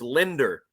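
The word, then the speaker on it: Lindr: it on the Chiron you have to spell it l i n d r because it's Linder remember that that's that's always how Anthony said it come on Linder Wonder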